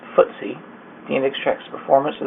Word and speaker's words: FTSE: and six swiss exchange ftse pronounced ftse the index tracks performance